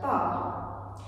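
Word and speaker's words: barre: So that takes us to our very first word, bar.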